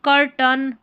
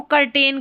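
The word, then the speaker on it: curtain: अब जैसे पर्दे होते हैं ना, उसको कर्टेन कर्टेन बोलते हैं, तो कर्टन इसका सही उच्चारण है।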